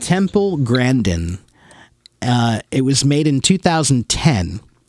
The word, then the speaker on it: Temple Grandin: How pronounce it? Temple Grandin.